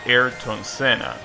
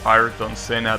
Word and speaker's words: Ayrton Senna: And speaking of pronunciations, something that I also thought was gonna be the case, you're not supposed to pronounce it Ayrton Senna.